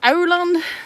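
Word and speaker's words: Aurland: little town called baka b-a-k-a and then there's Ireland which is like three tunnels away from here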